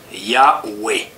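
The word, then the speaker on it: Yahvé: savants ont travaillé d'arrach-pied pour savoir comment prononcer le nom de Dieu des Juifs et des chrétiens peu à peu un consensus s'est dégagé c'est Yahoué et alors à quoi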